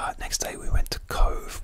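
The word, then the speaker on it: Cobh: Next day we went to Cove, which is spelled C-O-B-H.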